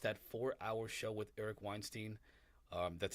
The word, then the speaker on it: Weinstein: down and watched that 4our show with Eric Weinstein um that's how you pronounce his name and uh and uh oh